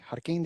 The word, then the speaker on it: Jarquin: Jarquin is the proper pronunciation? Yes.